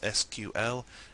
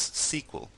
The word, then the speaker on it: SQL: SQL is pronounced by some people as just the letters SQL and by some people as SQL.